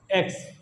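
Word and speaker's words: equis: Next one इज एक्स। एक्स को हम pronounce करते हैं एकिस, एकिस।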